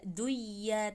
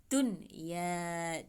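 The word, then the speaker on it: دنيا: Bacanya ada jelas, tidak duya tapi dunya, dunya, nunnya jelas.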